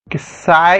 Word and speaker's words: psi: साई का स्पेलिंग आपको पता है दोस्तों, साई, PSI। ठीक है, तो ऐसा कुछ इसका स्पेलिंग होता है PSI, that is called साई बोलते हैं इसे।